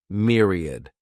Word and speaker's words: myriad: This word has 3 syllables, and the stress is on that first syllable. Mere sounds like mere, myriad.